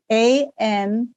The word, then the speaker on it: anosognosia: Both Amy and someone else tell us, remember, the lack of self-awareness is ANOSOG, nausea. And Anna's, you get it? ANOSOGNOSIA.